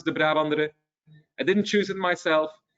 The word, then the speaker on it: De Brabandere: So I know it's not an easy name to pronounce, De Brabandere.